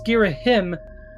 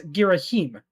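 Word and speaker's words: Ghirahim: was actually some contention as to how to pronounce his name. Some people insisted it was Giraim for some reason, while Hyrule Warriors actually has voice duration and directly pronounces it as Giraheim, which is what I always assumed it was personally.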